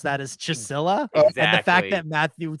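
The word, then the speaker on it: Csilla: theory yes that is not I would never pronounce that as chisela and the fact that Matthew said it that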